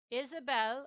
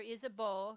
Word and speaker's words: Isabeau: Isabelle or Isabeau can be pronounced either way. It's a French name.